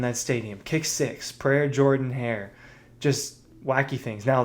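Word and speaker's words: Jordan-Hare: Look, I've been I've been to Jordan Hair Stadium, and they they pronounce it Jordan, not Jordan.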